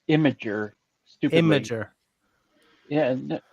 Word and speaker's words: Imgur: pronounce it it's pronounced imager stupid imager yeah it's not the way it's red it's red but somehow somehow they say it no it's imager well it's from image yeah i don't know